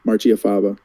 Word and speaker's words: Marchiafava: So, but yeah, Marchiafava.